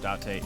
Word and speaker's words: Date: I called you here to inspect the scene, Date. Okay, Date is how you pronounce it.